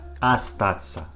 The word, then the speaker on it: Остаться: we pronounce this word you see that that first letter in this word or or but we pronounce this word like ah ah astaxa a stats not or stats it isn't correctly we pronounce like astaxa the same time you